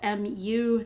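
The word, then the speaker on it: μ: population parameter me so muu that's the Greek letter um it's kind of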